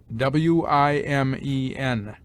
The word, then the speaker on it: women: Women is pronounced wimen.